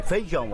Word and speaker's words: feijão: A gente engole o I, né? Em muitas regiões, a vogal I, quando está com outra, desaparece.